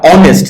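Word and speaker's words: honest: যেমন কিছুক্ষণ আগে অনেস্ট, এইটার সামনে এইচ থাকলেও যেটা কনসোনেন্ট, আমরা অনেস্ট যেহেতু উচ্চারণ ভাওয়েল সামনে এন বসিয়েছি।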